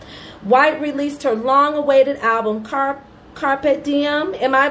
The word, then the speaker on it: Carpe Diem: White released her long-awaited album, Carpe Diem. Am I pronouncing that correctly? Yes, Carpe Diem, it means seize the day.